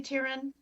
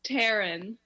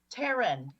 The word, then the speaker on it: Taryn: comments and tear in am I pronouncing your name correctly Tyran it's Taryn teren there we go first thing to do